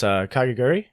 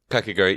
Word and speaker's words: Kakegurui: I like watching anime on there also, but I always mispronounce it. But it's Kakegurui. Kakegurui, yeah, that's Kakegurui.